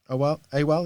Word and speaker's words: AWAL: AWAL, is that how you say it?